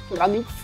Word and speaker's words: Graniph: Ball Z, Dragon Ball, une collaboration avec Granit, c'est comme ça que ça se prononce, Granit.